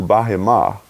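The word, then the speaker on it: בְּהֵמָה: And that's what we would call in English behemoth, or it's pronounced in Hebrew bahimah.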